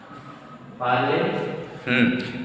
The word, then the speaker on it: parle: Parle. Because logic is there. You can see A is carrying accent aigu. It means A will be pronounced A.